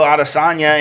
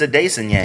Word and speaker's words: Adesanya: They still say Israel Adesanya, and he says it's Adesanya.